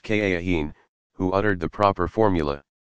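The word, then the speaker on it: kahin: their secrets to a soothsayer called a cahiim pronounced ka Akeem who uttered the proper formula some of muhammad's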